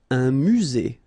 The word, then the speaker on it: musée: Un musée. Final E not pronounced.